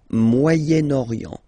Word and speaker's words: Moyen-Orient: But then as you've got this vowel after, okay, you get to make the liaison between the two, le Moyen-Orient, Moyen-Orient, okay?